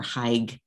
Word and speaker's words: hag: So the hag or haig, depending on pronunciation, old haig, old higgy, different pronunciations depending on the community.